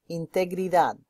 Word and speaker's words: integridad: Now the way you pronounce integrity, integridad. Break it down, integridad.